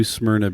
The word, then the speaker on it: Smyrna: just the name new smrna beach it's like you get halfway through SM and then your mouth just gives up but that's the way it's supposed to be pronounced yeah it's talking s